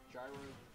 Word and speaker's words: gyro: Gyro is the way to pronounce it.